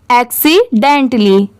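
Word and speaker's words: accidentally: है तो यहां पर टली की साउंड लास्ट में आ रही है इसे टैली नहीं पढ़ेंगे टली तो इसे पूरा साथ में मिला देंगे तो क्या पढ़ेंगे एक्सीडेंटली ठीक है आप ऐसे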